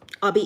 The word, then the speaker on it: Oby: There's O and the B is object, obscure, observe, all the things. So it's Obi, and then last name. So Obi is the way you pronounce my name.